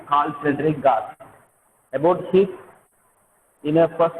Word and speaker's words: Carl Friedrich Gauss: The pronunciation is Carl Friedrich Gauss.